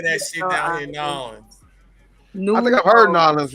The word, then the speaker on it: New Orleans: You keep saying New Orleans like 2 words. Like that's not even how you pronounce them. It's Nolans. Nolans.